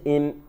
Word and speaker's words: him: We turned him. The H is soft here, silent. We turned him.